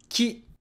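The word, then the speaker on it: き: Ki is just the K sound plus E making a ki sound. It's pronounced ki, just like in the word key. Well, again, in English, ki has a long vowel. Always remember that in Japanese, it's short vowels. So we wouldn't say ki, but ki, ki.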